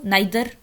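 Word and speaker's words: neither: इज नीदर आ गया, नाइदर और नीदर, इसको हम दोनों तरह प्रोनाउंसिएट करते हैं.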